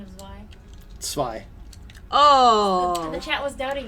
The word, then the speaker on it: Zwei: Can you do the authentic pronunciation of Zwei? Zwei.